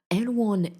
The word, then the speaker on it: Erewhon: I believe it's Erewhon you pronounce it. I'm not sure.